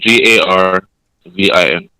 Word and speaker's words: Garvin: that carving yeah Garvin g-a-r-v-i-n all right that's interesting I've never heard that name before it's like Marvin but with a G Garvin okay with that g